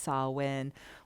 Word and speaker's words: Samhain: That weird Gaelic word is pronounced Samhain, which is pretty timely because it is Samhain is Halloween, right?